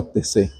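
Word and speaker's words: Taizé: lugar que se llama TC, se escribe Taicé. Un lugar que se llama TC, se escribe Taicé.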